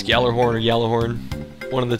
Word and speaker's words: Gjallarhorn: I feel like you're supposed to say, like, Gjallarhorn, because there's a JF, it's like GJ, and it's a Nordic word.